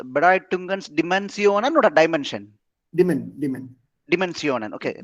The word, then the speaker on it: Dimensionen: How do you pronounce? Bedeutungens Dimensionen or a dimension? Dimensionen.